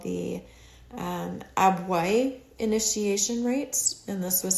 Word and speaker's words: Abwoi: And then they also had something called the Abwai initiation rites, and this was something that was prevalent in Nigeria. And Abwai is spelled Abwoi.